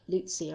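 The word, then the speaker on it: Lucya: wrong that's absolutely fine l-u-c-y-a it's spelt but yes it does sound um like lucia or lucia yeah okay now um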